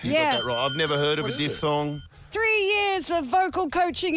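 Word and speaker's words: diphthong: Mitch and he said it's pronounced a diff thong see the way I'm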